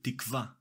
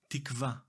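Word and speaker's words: תִּקְוָה: In Hebrew we say tikva. Tikva. The stress is on the last syllable.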